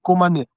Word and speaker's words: Komané: Le mini-festival Mpo est placé cette année sur le thème Komané. C'est ainsi que ça se prononce.